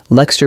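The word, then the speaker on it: Leicester: Lexter becomes L E S T E R and Fulham becomes f u l e m.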